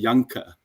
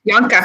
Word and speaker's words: Janka: In South Africa, in Dutch, I'd say Janka. How do you say it? That's it. That's it. Janka.